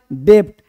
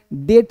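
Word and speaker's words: debt: ये लोग डेप्ट बोलते हैं। गलत बोलते हैं। डेप्ट नहीं बोलता है। हमेशा हम लोग बी इस केस में बी क्या होता है? साइलेंट होता है। यानी आप डी ईबीटी बोलते हो। ये बी क्या होता है? साइलेंट होता है। कर्जा लिया है। डेट लिया है। डेप्ट नहीं। तो क्या बोलना है?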